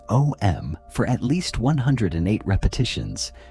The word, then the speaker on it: Om: The universal master tone is what you write as om, but which should be pronounced as a continuous sound that begins with a, transitions through u, and ends with m.